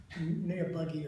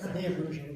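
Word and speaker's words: Niebrugge: Neabruge High, because they pronounce it wrong on television. Neabuggy or something like that. Neabruge is his name.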